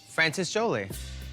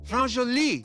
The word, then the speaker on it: France Jolie: I was trying to go for like a Cher, like meets like Frances Jolie, like Frances who? Frances Jolie. You mean France Jolie? Is that how you say it? France Jolie.